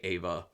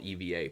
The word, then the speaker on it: Eva: because then he's with eva or ava i think they could say ava um but it's spelled eva but yeah so then